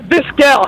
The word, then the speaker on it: Vizquel: And it's Vizquel. How does it spell it? Maybe it's the spelling. Visquel.